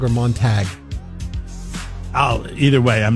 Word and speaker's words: Montag: hashtag um how quickly they turn uh Heidi monog is that how you say her name montog or Montag Oh either way I'm not a I'm I